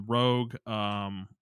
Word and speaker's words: ROG: Yeah, I call it Rogue because I think that's what it is, but it's like it's spelled ROG, which is Yeah.